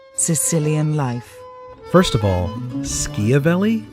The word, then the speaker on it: Schiavelli: life first of all skia vely I guess that's how its properly pronounced in Italian then I've just been